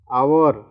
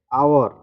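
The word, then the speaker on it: hour: आवर H silent है और उसका उच्चारण जो है ये वॉवेल है वो, इसलिए इसके पहले क्या हो गया? इसको क्या पढ़ेंगे? आवर, तो इसके पहले क्या लग गया?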